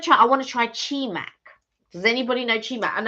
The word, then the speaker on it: Chimac: Chimac. How do you spell that? CHEEMC. Chimac. Chimac, as in chi and then MC.